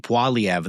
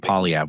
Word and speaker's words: Poilievre: I should have been saying Poilievre the whole time. That could have really helped him a lot if I had just pronounced it properly. But I was calling him Poilievre, which is really inexcusable for an editor.